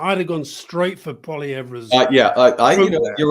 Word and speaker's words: Poilievre: First of all, how do you pronounce it? Because every time I call him Poilievre, because as you say, Canada's a bilingual, I get told it's Poilievre. Yeah, it doesn't. He doesn't use the h.